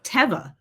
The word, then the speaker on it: Teva: So it is Teva.